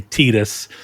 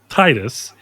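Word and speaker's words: Tidus: Yeah, that that is Titus as everybody called him before that game came in and said, actually, it's supposed to be pronounced Tetus this entire time.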